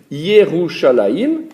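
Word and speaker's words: ירושלים: Comme ces lettres sont des consonnes, pour pouvoir lire Yerushalayim, il faut nécessairement ajouter des indications supplémentaires. Alors, autour de ces lettres consonnes, on devra ajouter des signes qui transformeront le I en Yé, qui vont transformer le R en Rou, le S, il va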